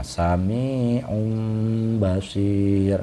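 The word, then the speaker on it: سميع بصير: Nah, cara bacanya sami'un, nah, sami'un basir, nah gitu. Jadi tidak dibaca un, nah, tidak dibaca seperti idhar, melainkan bersuara mim, sami'un basir.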